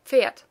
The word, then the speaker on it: Pferd: The same happens with Pferd, which is spelled with a D, but pronounced as if it had a T at the end. Pferd.